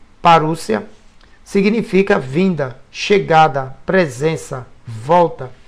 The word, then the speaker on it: parousia: A palavra parousia, que se pronuncia parúcia, significa vinda, chegada, presença, volta, visita real, advento, chegada de um rei.